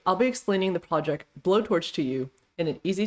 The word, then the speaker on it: BoTorch: understand way let's go blowtorch is a pie torch library for bayesian optimization research it's actually pronounced as blowtorch as described here in the docs in statistics bayesian probability